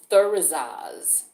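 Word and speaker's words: Thurisaz: This particular rune, this symbol, it's called Thurizaz. It's spelled Thuris, as in Sam, A-Z.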